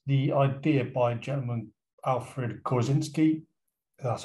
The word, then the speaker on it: Korzybski: territory it is the idea by gentleman alfred kozinski that's how you pronounce his name i think the only usefulness